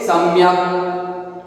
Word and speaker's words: सम्यक्: ક ખોડો, ખોડો વર્ડ હોય તેને આખો ન બોલાય, ક दैट इज फुल वर्ड क, उसके बाद में अ का प्रोनाउंसिएशन नहीं होगा, इसलिए यहाँ पे क्या बोलेंगे? सम्यक।